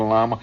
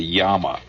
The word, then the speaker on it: llama: You know, is it a llama? Actually, you pronounce a yama. It's two L's. You know, not like a llama that you go, you